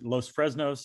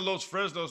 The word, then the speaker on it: Los Fresnos: First of all, I guess Los Fresnos is how you say it.